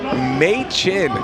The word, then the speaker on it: Machen: So he did tell it's Machen, like the month.